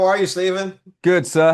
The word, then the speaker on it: Stephen: Hi, how are you, Stephen? Good, sir. How are you? I'm good. Is this Stephen or Stefan? Stephen.